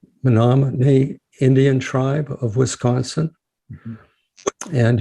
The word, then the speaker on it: Menominee: enrolled member of the nominee and am i pronouncing that correctly yeah that's correct menomonie indian tribe of wisconsin and you're offering mindfulness